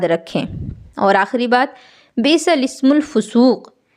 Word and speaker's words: الاسم: اور آخری بات، بئس الاسم الفسوق، اس کلمے میں لام سے پہلے اور لام کے بعد دونوں الف نہ پڑھیں بلکہ لام کو زیر دے کر پڑھیں۔ آپ یہاں دیکھیں، بئسا